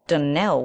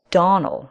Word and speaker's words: Donald: not and as for that denell woman she'll get no delling for me I can assure you the name is Donal and always has been the woman is crazy